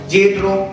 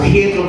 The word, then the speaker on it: Jetro: Yetro, o Jetro, como usted quiera pronunciarlo, Yetro, sacerdote de Madián, suegro